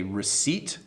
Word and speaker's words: receipt: The P is silent, so it is a receipt.